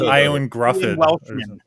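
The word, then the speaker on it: Ioan Gruffudd: Again, his name is hard to pronounce. It's Iwan Gruffin.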